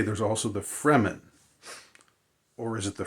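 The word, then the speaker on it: Fremen: re m-- n so it's sort of like free men but but they're the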